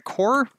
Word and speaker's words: corps: in the course and the Corps let's probably know we don't pronounce the S on that well there you go